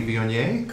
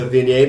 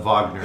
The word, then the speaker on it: Viognier: I wanted you to introduce the Viognier because I hardly ever can say that right. So. Yes, our shipping manager loves to call it Wagner because that's his favorite pronunciation for many guests.